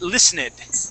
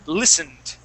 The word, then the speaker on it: listened: So you had said listened. Okay. The word is listened.